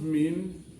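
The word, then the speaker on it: mesne: more the government profits is pronounced mean but it's spelled m-e-s-n-e for holding over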